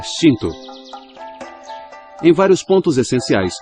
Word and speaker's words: Shinto: Na língua japonesa, outra forma de pronunciar caminhos dos kami é Shinto.